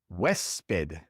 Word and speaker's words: huésped: This word ends in a D, and so also in this word, the stress would fall naturally on the last syllable. But it doesn't. It's on the second to last syllable, and so we must write an accent mark above the E.